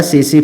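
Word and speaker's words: tsetse: लेकिन उसमें टी एस ई टी एस ई ऐसे लिखा जाता है। जिसमें क्या है? टी स साइलेंट होता है फ्लाई।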